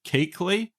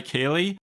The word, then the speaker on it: Keighley: When I interviewed Tony Collins, he pronounced it Keekley, but I feel like I can't say it properly with my Australian accent. So I'm going to say Keeley, with the understanding that I know that is wrong, but please don't bombard